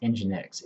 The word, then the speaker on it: nginx: from user application files nginx so nginx is pronounced nginx is a lightweight web server that is installed